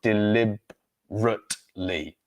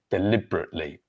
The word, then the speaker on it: deliberately: deliberately, but in speaking, we drop the letter, so we have D-lib, but we drop that bit, the third E there, the third vowel, so it becomes deliberately. So 1, 2, 3, 4 syllables and not 5, deliberately, deliberately.